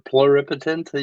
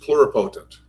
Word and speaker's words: pluripotent: So we have to totipotent multipetent or plur pluripotent you would pronounce it and then mult multipotent basically goes all the way down. Well, see, I've only ever heard the word pronounced pluropotent.